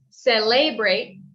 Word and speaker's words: celebrate: be like instead of celebrate say libre we say seller celebrate celebrate so even though we have the e it's more of a u sound celebrate okay and